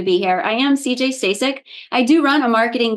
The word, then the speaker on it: Stasik: I am CJ Stac.